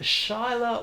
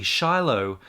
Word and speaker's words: Shiloh: it might be shyla might be pronounced shyla but the o and the h might say ah um thanks very much